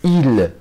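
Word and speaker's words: ils: كنهضر عليهم كنقول لهم إيل. هاد اسم ما كتنطقش ولكن كتكتب. ردوا بالكم، هاد اسم ما كتنطقش ولكن كتكتب إيل.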